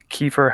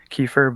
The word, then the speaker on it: kefir: uh i guess it's i've heard different pronunciations of it in america it's usually uh kefir but it's like kefir and it's k-e-f-i-r okay cool and uh